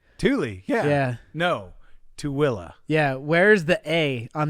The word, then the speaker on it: Tooele: would think it sounds, and we'd call it Thule. Thule, yeah. Yeah. No, Tooele. Yeah, where's the A on the end of where's the coming from? Yeah. Tooele.